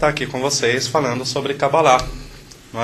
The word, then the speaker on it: cabalá: fala cabala fala cabala cabalá é pronúncia correta Assim como as pessoas confundem a pronúncia de yoga as palavras as pessoas falam yoga a pronúncia correta é cabalá tá então gente todo